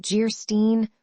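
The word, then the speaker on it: Geierstein: "Anne of Jairstein, pronounced Jeerstein, or the Maiden of the Mist, by the author of Waverley."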